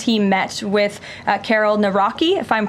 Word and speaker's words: Nawrocki: He met with uh Karol Nawrocki, if I'm pronouncing that correctly. Yes, Nawrocki.